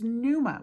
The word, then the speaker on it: pneuma: And in the New Testament, the word is pneuma with a silent P.